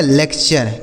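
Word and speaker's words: lecture: लिखा आपका कल्चर एल ई सी टी यू आर ई तो यह हो गया आपका लेक्चर क्या हो गया मेरे दोस्त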